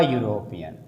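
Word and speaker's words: European: चाहिए एन लगना चाहिए लेकिन नहीं इसका उच्चारण क्या है य तो य कहां आता है क से य तक में आता है इसलिए इसके साथ क्या लगेगा अ यूरोपियन ऐसे कुछ वर्ड होते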